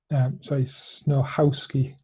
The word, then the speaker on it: Snochowski: I have for you today a fantastic, inspiring story from um, Snochowski. Snochowski. The C is silent.